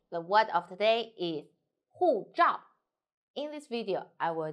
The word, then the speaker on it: 护照: The word of today is 护照. In this video, I will teach you how to pronounce it, how to write it, and how to use it.